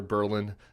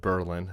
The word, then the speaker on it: Berlin: night in New Hampshire Berlin New Hampshire they pronounce it Berlin not Berlin um someone who's done